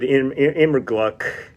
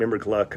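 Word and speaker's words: Immergluck: on acoustic guitar David immigruck I think it's I pronounce his name emmer Gluck on pedal steel guitar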